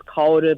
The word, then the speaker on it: Kaoru: name properly, but Okay, everyone in thank the you. States call me Kaoru. Kaoru. But the proper pronunciation is Kaoru, but, it's only Kaoru. when I'm in Japan. I got Don't worry you.